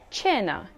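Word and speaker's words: cena: k sound but why one rule to remember is that c followed by e or i makes it a soft c h sound for example chao meaning hello chenna meaning dinner chitta meaning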